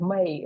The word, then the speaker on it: Mei: They spell it MEI, and I am from Russia, so I have to get a passport in Russia. So that's why they wrote it in this way, but I pronounce it like May, like the month of May.